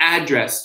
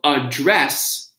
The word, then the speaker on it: address: So you see where the stress is on the verb, it's she will address the audience. That's the verb. Versus, can you give me the address to the restaurant? Okay, so there's the two different types of address and address.